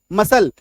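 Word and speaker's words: muscle: मसल है ना ये इसका एक एक्सेप्शन है इसका अपवाद है क्लियर है चलो नेक्स्ट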